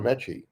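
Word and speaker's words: Metchie: Actually, you know, I wanted to talk about uh John Mechy. Is that how it's pronounced? That is John Mechy the third.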